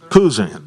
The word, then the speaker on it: Cousin: Cousin, do you pronounce it cousin or Kuzan? Kuzan. Okay. I figured it was Kuzan.